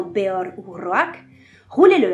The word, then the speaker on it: Beor: À moins d'une remarque particulière, il faut se référer aux valeurs de l'elfique, c'est-à-dire prononcer chaque voyelle, surtout si l'une porte un accent ou un tréma, comme dans Beor ou Roak, rouler le